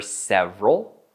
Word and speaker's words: several: And notice I say several. I don't say several. I say several. Two syllables. Several.